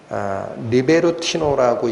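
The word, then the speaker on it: Λιβερτῖνοι: 이건 발음 나는 대로 번역한 단어인데 원래 헬라어로는 리베르티노라고 읽힙니다.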